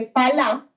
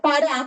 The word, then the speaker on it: pará: darle el nombre de palá, en realidad se pronuncia pará porque es una palabra en wuite, que es la lengua que hablan los indígenas guú, ¿sí?